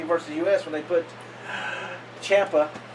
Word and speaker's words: Ciampa: So that's why I didn't like they put in USA versus US when they put Ciampa, which rhymes with Tampa.